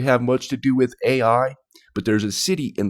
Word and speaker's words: Ai: It doesn't really have much to do with AI, but there's a city in the Bible, a Canaanite city called Ai.